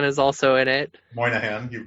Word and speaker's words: Moynihan: is about uh yeah joseph gordon-levitt voices bobby monahan is also in it moynihan you've mispronounced his name if i didn't know that